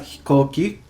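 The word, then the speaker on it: 飛行機: All right, here we have hikoki. Hikoki. Ko. So if you look at there, ko uses the go kanji. So it can be pronounced as ko.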